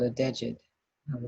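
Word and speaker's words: djed: Because this particular tool that Ptah is holding is called a dejed. I will spell that for you.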